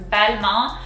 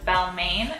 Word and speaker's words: Balmain: english you pronounce it balmain if i'm correct um but in french that's a little off so the first syllable is very similar to english bad so that's going to